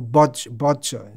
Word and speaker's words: vatsa: have noticed the word vatsa the word vatsa is there which means my my dear darling who i'm most affectionate to how many children do you have koto bachcha is bengali pronunciation of vatsa so the idea child